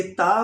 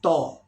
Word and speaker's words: ت: ख्याल रखना है कि ये ता को बारीक आवाज़ से पढ़ना है, ऐसा ना हो कि तो अदा हो जाए। Okay, please take care, pronounce ता, not to, okay?